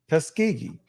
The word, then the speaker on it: Tuskegee: Tuskegee.